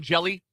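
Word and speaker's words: Hjelle: Sean Jelly, I think is his last name. Yeah. I know who you're talking about. With silent H at the beginning of his name.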